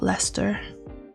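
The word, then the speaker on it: Leicester: it was fun there's some shitty little town called lester it's spelt with like a ces in the center but yeah you can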